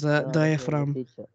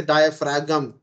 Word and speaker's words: diaphragm: otherwise you will say diaphragam but the g is silent so you say tire